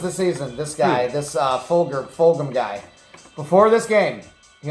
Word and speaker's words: Fulgham: Yeah, Travis Fulgham, absolutely.